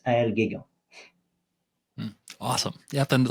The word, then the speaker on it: Aël Guégan: Sorry, my name is a bit hard to pronounce. And you maybe see the spelling in the name of the episode, but it's Aël Guégan.